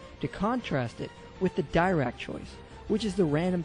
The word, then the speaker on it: Dirac: It's pronounced Dirac, not Dirac.